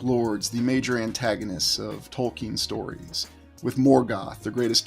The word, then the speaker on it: Tolkien: I was a boy, I mispronounced the name like many other people. I thought it was J.R.R. Tolkien. His full name is John Ronald Reuel Tolkien, not Tolkien.